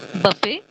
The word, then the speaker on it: buffet: Buffet it is Buffet the last T is silent letter for instance you take